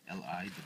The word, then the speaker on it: Liwei: Leeway, let's spell the Chinese, pronounce Chinese, Chinese name as a Chinese name, Liwei, Leeway.